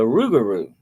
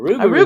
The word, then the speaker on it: rougarou: But then you have the rougarou. The A rougarou, rougarou, I've heard of yeah, that.